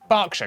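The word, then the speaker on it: Berkshire: silent Norwich Beric souk e r is pronounced R barkshire Claren hartfordshire but before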